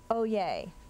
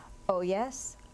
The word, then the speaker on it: oyez: Oye, are there any alternate pronunciations? Oh yes, oh yes.